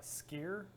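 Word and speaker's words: skyr: protein this ciggies is actually uh skier I believe that's how you pronounce that and what does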